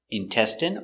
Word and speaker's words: intestine: Remember, medicine, margarine, intestine or intestines, more than one, genuine, famine. Remember, it's countable, a famine, and jasmine. So all of these words are pronounced with the in sound for the ine.